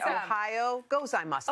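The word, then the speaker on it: おはようございます: two words okay okay the first word is ohio which is just like the state ohio ohio okay perfect and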